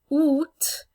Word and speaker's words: août: Août, okay, the T is pronounced at the end, so those are a couple of things to be aware of.